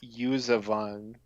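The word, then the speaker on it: Yuuzhan Vong: buzan pong um well iron shell says it's pronounced usavan so oh you use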